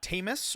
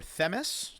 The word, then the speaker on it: Themis: Uh, Tamus or Themis, depending on how you pronounce that, is another Titan goddess um associated with justice, law, and order.